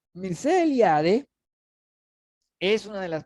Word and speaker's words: Mircea: Que siempre da las ganas de pronunciarle Mircea, ¿no? Mircea Eliade. Pero no es.